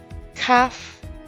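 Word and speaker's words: Khaf: on the furthest left CF with spelled k h a f is the 13th letter it is the same as CF without the dees pronounced with a khh as in bar it's similar to the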